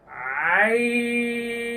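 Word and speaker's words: عين: হলো আইন শিক্ষার্থী বন্ধুগণ এই যে কণ্ঠনালীর মধ্যখান থেকে উচ্চারিত হবে এর আগে আমরা হা পড়েছি না একই জায়গা থেকে উচ্চারিত হবে এই দুইটি হরফ আইন শেষে জিহ্বার আঘাত তার বরাবর উপরে তালুর সঙ্গে লেগে যাবে এই যে লক্ষ্য করুন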